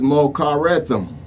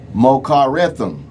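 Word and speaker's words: מָחֳרָתָם: The next example in the Hebrew is mokarethim. Mokarethim. Mochorratham. Or mokarethim. That's how I pronounce it.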